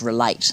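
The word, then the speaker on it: Rel8: So our organisation created something called Relate. So it's spelled REL and the number of 8 because it has 8 areas that we look at.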